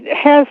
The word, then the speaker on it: HU: to God called H it's spelled hu and it sound like a chant and uh if I